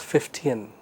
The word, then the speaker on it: Fichtean: c h t e a n but the pronunciation is 15 so the main advantage of the 15 curve lies in its ability to provide a